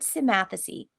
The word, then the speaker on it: Symmathesy: So the word Symmathacy, it's spelled Symmathesy, comes from the Latin words sim, together, and mathacy, learning.